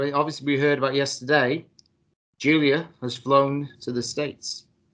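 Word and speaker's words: Giulia: just said it as gulia no it's Julia no it's pronounced Julia it's Julia with a G yeah and a bunch of extra letters sounds like she from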